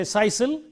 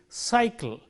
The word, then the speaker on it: cycle: We don't say sisal, nor do we say kaikal. So it is cycle.